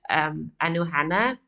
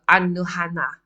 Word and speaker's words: Anoana: Okay, so just note on the pronunciation, it's not, I think the Americans would like to pronounce it Anoana. Yeah, Anoana, I suppose. But because it's Norwegian or because it's European, you would go Anohana, Anohana.